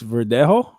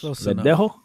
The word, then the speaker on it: Verdejo: Felix Verdejo. That was close. Verdejo. How you say it? Wow. Yeah, that's right. That's good. Verdejo.